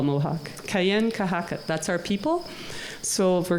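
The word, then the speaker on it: Kanienʼkehá:ka: un Mohawk, and Kate helped me with the pronunciation in actual Mohawk again. Kanyen Kahaka. That's how you would say it in what we call Mohawk. Kayen Kahaka.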